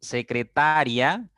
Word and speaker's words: secretaria: pasa lo mismo con secretaria y secretaría sí secretaria es una palabra de cuatro sílabas y la mayor intensidad está en ta secretaria yce es un